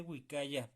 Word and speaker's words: uikaya: Bien importante wicaya, pronunciarlo bien, ¿de acuerdo?